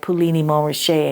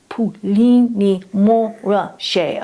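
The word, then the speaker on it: Puligny-Montrachet: would always, correct me, because I'd say like Puligny Montrachet, and he'd go, no, Ursula, it's Puligny Montrachet.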